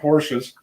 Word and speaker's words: Porsche: of friends who owned Porsches. One of my friends just got last year got a 911 Turbo. Right, I made up a custom license plate frame for him. Porsche, 2 syllables.